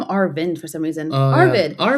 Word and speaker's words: Arvid: The next thing was um we were talking about I don't know if you know, but there's a young kid named Arvin or Arvid.